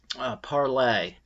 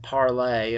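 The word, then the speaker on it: Parler: and now there's a parlay and it's spelled PA are lar and it's the French word palais like to speak i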